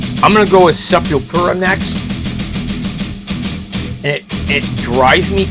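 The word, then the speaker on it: Sepultura: It's Sepulura. It's Portuguese. They're from Brazil. They they pronounce it seepilura not seep not seepura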